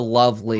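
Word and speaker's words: LOVB League: They pronounce it the Love League.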